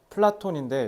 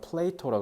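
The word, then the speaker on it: Plato: 자, 플라톤인데 영어 특히 미국 발음 뭐라 하면 플레이토라 그래. 플레이토 우리 앞에 아리스토텔레스는 뭐였어?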